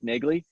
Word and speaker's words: Nagele: a little side note my last name is pronounced nigley and and i have